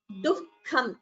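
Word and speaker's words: दुःखम्: Note the pronunciation of the word dukham. This is what we call a jihva muliya, which we learned last class. That is a visarga followed by ka or kha. So the pronunciation is as dukham.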